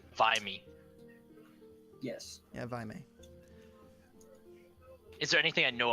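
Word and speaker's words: Vaimei: How do you spell that? Spelled V-A-I-M-E-I. N-E-I. Okay. Viney. M. M as in mother. Oh, M. Vimy. Yes. Yeah, Vimy.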